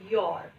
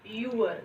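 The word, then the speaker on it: your: सो उसके बाद जो है लेट अस स्टार्ट योर। अब देखिए कुछ बच्चे जो है इसको कहते हैं यूअर, this is नॉट यूअर, यूअर नहीं है ये। इसका राइट प्रोनाउंसिएशन क्या है, योर।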